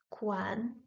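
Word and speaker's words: 宽: Quan, quan. This character, which means broad, fast, is pronounced with the first tone.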